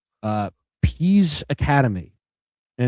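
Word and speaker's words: Pease: In Minneapolis, there is a place called the I don't know if it's still around anymore, but it was called uh Peas Academy, and it's spelled P E A S E, and it's in Dinky Town.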